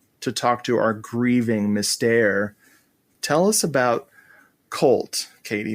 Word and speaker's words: Mystère: How do you say it? You're saying it right. Mystère is right.